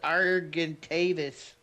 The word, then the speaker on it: Argentavis: Argy argy whatever you guys can correct me. It's pronounced argentavis.